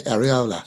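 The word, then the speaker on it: Iraola: do a book signing about a year ago arola had just taken over is that how you pronounce it by the way arola yeah okay yeah he just took over and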